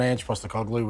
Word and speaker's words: Ange Postecoglou: No, spot on, Ange Postecoglou, which wasn't as easy to say when I was coming through high school.